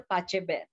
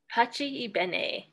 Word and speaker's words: Pace e Bene: How did all of this lead you to get involved with the Pache Ben? Am I pronouncing it correctly? Pache Ben? Pache Ibene. Pache Ibene. Thank you.